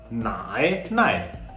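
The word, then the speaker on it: 奶奶: And what is the second syllable? NAI with a no tone. Okay, so when there is no tone mark, it is the neutral tone.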